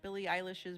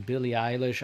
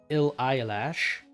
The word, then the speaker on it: Billie Eilish: Look, the first time I heard the name Billie Eilish, I like mispronounced it for an entire year. Okay, I kept saying, ill eyelash.